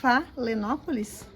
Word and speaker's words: Phalaenopsis: I don't know how to pronounce the name of this orchid correctly, folks. Phalaenopsis.